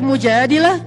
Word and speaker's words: Al-Mujadalah: curhat kalau al-mujadalah curhat Jadi tergantung kita bacanya Dila atau adalah kalau kita baca Mujadilah berarti perempuan yang lagi curi curhat kalau kita baca Al Mujadalah berarti curhat itu sendiri surat al-mujadalah berkisah tentang